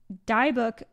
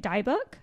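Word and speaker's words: dybbuk: Kevorkian's death fan, the Diebuck box, I think is how you say it, Diebuck box, which is a box that like has spirit inside, and the stairway to hell.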